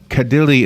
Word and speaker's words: Kadile: Kadile is on the phone.